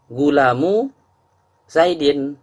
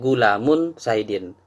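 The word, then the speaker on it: غلامُ زيدٍ: Jadi tadi cara bacanya Abdullahi, tidak boleh Abdun Allahi, tak boleh. gulamu Zaidin, tidak boleh gulamun Zaidin. Karena mudhof tidak boleh bertanwin dan mudhofun ilaih wajib kasroh.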